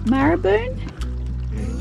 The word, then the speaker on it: Maraboon: Lake Maraboon?